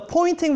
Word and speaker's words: Poynting: a spelled a weird it sounds like a pointing as if I'm pointing and it's confusing because the pointing vector it points in the direction of propagation direction but it's spelled with a why I think it's named